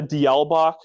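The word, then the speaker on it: Diawl Bach: Then a d'Alembach. That's how you pronounce those two words together. I know it doesn't look like that, but it's, I believe it's Irish for little devil.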